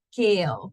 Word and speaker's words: keel: De keel. So literally like the veggie, right?